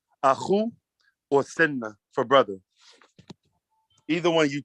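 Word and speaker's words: sena: So A-K-H-U is brother, or you could say S-E-N-A, Senna, Senna.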